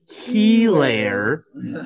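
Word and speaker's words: Edwards-Helaire: Helaire. Oh, man. If you guys saw that Thursday game. Oh. Someone gave him the pronunciation.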